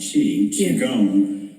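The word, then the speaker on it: Qigong: my other passion okay so spelled Qi but pronounced chi chong is I the way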